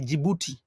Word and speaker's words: Djibouti: Now, I say Djibouti because that's the pronunciation we use. I say Djibouti. That's how I sound it.